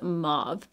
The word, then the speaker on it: mauve: the American pronunciation is mauve because we say the Au like the ah sound and really if you